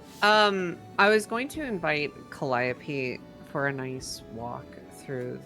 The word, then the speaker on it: Calliope: Oh, is it pronounced Calliope?